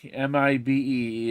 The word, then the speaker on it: Mibe: Mibe, M-I-B-E. It's pronounced Mibe in Japan, in It Japanese.